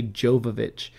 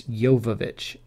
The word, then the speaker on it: Jovovich: say her name properly her last name is jovovich a lot of people say jovovich um but it's yovovich so but i'll see